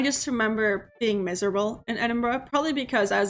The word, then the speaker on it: Edinburgh: of the castle that's right there yes it's pronounced Edinburgh yes it's not Edinboro it's Edinburgh but um but that's what I'm saying but